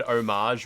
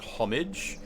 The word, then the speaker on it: homage: Unfortunately, the word homage is slowly being lost in the English language because heaps of people see the word homage written and they pronounce it homage.